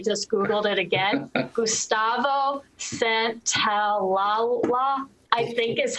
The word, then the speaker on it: Santaolalla: Gustavo Santaolalla, I think is how you say it.